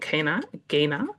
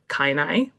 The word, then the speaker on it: Kainai: Nitsitapi, which is the Blackfoot Confederacy, including Siksika, Piikani, and Kaina, also Kainai, but I've heard two different pronunciations of it.